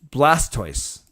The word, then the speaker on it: Blastoise: Oh, Blastoise rhymes with voice. So Blastoise? Blastoise.